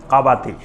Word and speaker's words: কাবাতি: ওটার নাম ছিল কাবাতি ওটাকে এমনে কিপতি বলা হয় কিন্তু মূল উচ্চারণ হল কাবাতি এক গ্রুপ হল বানি